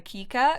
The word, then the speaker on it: Kika: why is I've realized I've been saying Kiyaka's name wrong. I'm gonna, from this point forward, call her Kika, because that's how I wanted to pronounce it. So I don't know when my head turned it into Kiyaka, but I'm gonna call her Kika from now on.